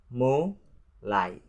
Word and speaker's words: mulai: And the next, number 5, the word mulai. Mulai. So there are two syllables in this word and it means to begin.